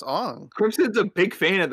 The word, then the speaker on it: Aang: It's Ong.